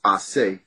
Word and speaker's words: Ace: Asi, which is A-C-E is the first three letters, which is really supposed to be pronounced Ase.